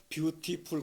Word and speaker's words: beautiful: 이제 사전적인 발음인데 미국 사람들은 그 이제 트라는 자음, 그걸 단타음이라고 그러는데 그 트나드의 양쪽에 모음이 양쪽에 있으면 그 트를 리을 발음을 해. 그래서 beautiful이 아니라 beautiful. beautiful.